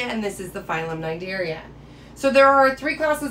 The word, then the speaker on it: Cnidaria: talking about the phylum night area it is pronounced with an n even though it is spelled with a cn so make sure that